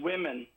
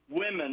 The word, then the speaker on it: women: just came up woman the plural is pronounced women women I remember my fourth